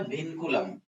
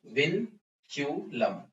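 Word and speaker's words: vinculum: इसका नाम होता है विनकुलम, ठीक है, या फिर विनक्यूलम, कुछ भी तुम इसको प्रोनाउंस कर सकते हो, ठीक है।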